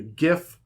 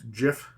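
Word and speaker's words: giff: the astral elf autonome the GIF it's not pronounced Jiff uh the hadozi plasmoid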